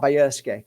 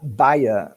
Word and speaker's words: Bajerski: wacky name yeah uh my name is biersky can you spell it please yeah b-a-g-a-r-ski Bravo Alpha Julia Echo